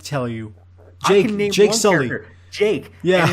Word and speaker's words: Jake: Jake. Yeah. And it's because it upsets me that his wife never gets... She's never able to say his name right. She always says Shake.